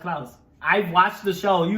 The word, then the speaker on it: Klaus: It's pronounced Klaus.